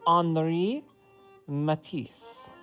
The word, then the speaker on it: Henri Matisse: we are doing an anri matisse uh so when you pronounce his name the french way of saying it the h is silent so you say anri matisse okay all right and